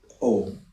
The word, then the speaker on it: Om: Om consists of three syllables, which is A, U, and Ma.